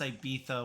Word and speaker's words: Ibiza: And yes, it is pronounced Ibiza with a TH, because long story short, people in Spain say TH because that's what their king once did. He couldn't pronounce his S's properly. So instead of calling him out on social media and disrespecting him, they changed how they said Ibiza and all the other words with a Z.